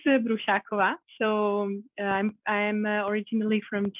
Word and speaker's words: Brusakova: information about myself so my surname which is so difficult to pronounce is brushakova so i'm i'm originally